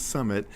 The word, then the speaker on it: SUMMI7: a typo right it's it's pronounced Summit but you put a seven uh yes okay tell